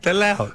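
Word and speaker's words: laout: new drink their their how to pronounce that the the layout the layout what the loud the loud and the light Stout correct l-a-o-u-t a mix of lager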